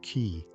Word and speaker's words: qi: At the heart of acupuncture is the concept of ki, pronouncedqi, the life force or energy that flows through the body along invisible channels called meridians.